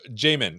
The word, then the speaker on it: Jamin: don't you introduce yourself we'll start with you Jamin did I say it right you did and that's a 50 50 shot so you did pretty good uh my name is Jamin and I am a product manager at Nuance